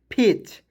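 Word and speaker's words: fetch: लिख देंगे ठीक है इसमें जो है टी को साइलेंट करते हैं तो हो जाएगा फेच फेच मींस होता है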